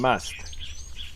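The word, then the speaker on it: musth: Looks like they're all trying to keep away from the chap in must.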